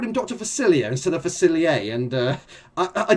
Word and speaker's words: Facilier: Facilier versus Jafar. The whole of that video, I actually called him Dr. Facilier instead of Facilier, and I did actually pick